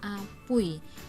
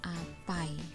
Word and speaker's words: apui: Kemudian pa mendapat bitan u dan tekelingai ai, jadi bacanya apui, bukan apai, ya, apui.